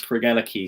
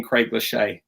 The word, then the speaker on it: Craigellachie: was taught to pronounce cregela key so craig has the key to ella's heart that was the phrase